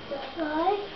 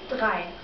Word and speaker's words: drei: Drei. Drei. Very good. So, if we just say the first three numbers, so, eins, zwei, drei.